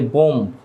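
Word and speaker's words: bomb: তারপর আমরা বলি বোম, মানে বোমা, যেটার বাংলা অর্থ, এটাকে আমরা বলি বোম। বাট এখানেও বিয়ের উচ্চারণ হবে না, এখানে বলতে হবে বম, ডাইরেক্ট বম।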